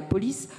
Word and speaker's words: Polis: c'est une plateforme comme Polis, donc ça s'écrit police comme vous voyez en haut, P-O-L-I-S, donc c'est le même mot que la cité grecque, hein, dont a beaucoup